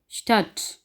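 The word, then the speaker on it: Stadt: की आवाज़ आनी है, जैसा कि एस ठे आ डे ठे साल है, इसको हम पढ़ेंगे स्टट।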